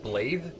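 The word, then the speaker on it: Blaidd: Also, he said his name is spelled B-L-A-I-D-D. He said Blythe.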